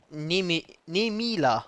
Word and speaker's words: Nemila: Nemila. So, ich habe den Namen richtig ausgesprochen.